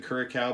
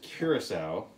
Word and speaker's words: curaçao: uh curacao curacao i i've been informed that i was saying it wrong before i said kirk cow before i've been uh informed that i was saying it wrong so thank you to all you picky nerds out there who told me to say it right so that is curacao